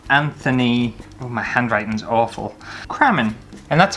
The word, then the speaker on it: Crammen: it's anthony and then i used to get cream in and it's not cream and it's cramming so it's anthony cramen and just a little